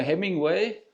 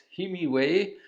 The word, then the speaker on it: Himiway: 제가 항상 헤밍웨이라고 발음하는데 , 이름은 히미웨이 맞습니다. 네, 회사에서 제게 한번 테스트해 보겠냐고 제안했고, 흔쾌히 승낙했습니다!